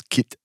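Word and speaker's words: кит: It says kit. Kit. Kit? Yeah. It's kit. K backwards NT, but pronounced kit.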